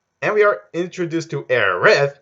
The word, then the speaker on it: Aerith: And we are introduced to Aerith, yeah, not Eris, like in the original English translation.